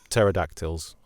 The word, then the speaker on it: pterodactyls: Nothing to do with leopards or pterodactyls, as soon as I saw silent P at the beginning of the terror.